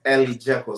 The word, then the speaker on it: Elijeko: So it's Elijeko. So I have two girls, Eliana. So I put the first three, Eli and Jacolia, Jeko, Elijeko, and I put their names together to form the foundation.